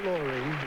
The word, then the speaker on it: Lore: Am I pronouncing your first name correctly? Laurie.